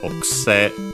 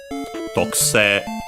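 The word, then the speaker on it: 特製: Notice also the barely heard if at all, because it's between unvoiced consonant, tokuse, tokuse, and also the e, long, which becomes long e. Some still keep it as a, but yeah, tokuse is what you more often than not hear.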